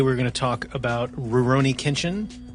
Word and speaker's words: Rurouni Kenshin: going to talk about Rurouni Kenshin which sounds like you're not pronouncing it right when you say it reroni kitchen yeah anyway it feels feels like it's not right but it is uh we're gonna talk